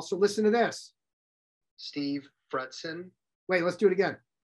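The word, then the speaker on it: Fretzin: And if you're older than, if you're my age, you also remember certs with Retson. That's how I used to tell people to pronounce my name.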